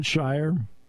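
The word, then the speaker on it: Scheyer: Then there's John Shire, whose name rhymes with choir.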